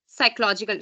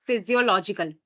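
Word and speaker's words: physiological: हम क्या कहते हैं साइकोलॉजिकल साइकोलॉजिकल नहीं कहते हम लोग इसको कहते हैं फिजियोलॉजिकल मैं बहुत मैं भी गलत प्रोनाउंस कर जाती हूं कभ इवन मैंने बहुत लोगों के मुंह से भी सुना है इसको हम साइकोलॉजिकल पढ़ लेते हैं साइकोलॉजिकल नहीं होती है फिजियोलॉजिकल होती है ठीक है तो फिजियोलॉजिकल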